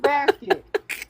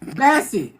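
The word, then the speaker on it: Bassett: She basket. Basset.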